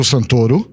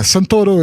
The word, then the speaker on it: Santoro: in 300 uh rodrigo santorum i don't know if my accent will yeah santoro is is how we pronounce his name in brazil he's brazilian so yeah